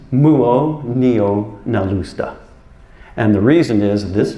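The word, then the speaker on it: Muonionalusta: It's pronounced Muonio-Nalusta.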